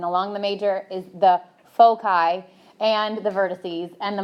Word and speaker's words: foci: Is that the way you pronounce it? Foci?